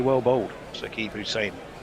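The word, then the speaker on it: Hussain: I do realize that short slower ball clever slower ball bouncer by Hussein pronounced Hussein.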